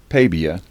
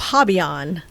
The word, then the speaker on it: Pabian: Pabian. But the other pronunciation is Pabian. Pabian. Yeah. It's a Polish. My husband is 100% Polish. I think he's third generation. But yeah, it's Pabian. Pabian. But Pabian is perfectly fine.